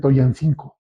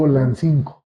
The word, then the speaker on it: Tulancingo: Hay quienes mal mencionan, o hay inclusive negocios y cosas así, que dicen Toyancinco. Ujú, En náhuatl, la palabra, la doble L, nunca se pronuncia como Y, siempre se pronuncia como L, aunque tenga dos. ujú. Ajá, es Tolancingo. Tolancinco, es lo correcto.